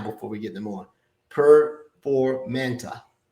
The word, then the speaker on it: Performanta: Performanta. Performanta.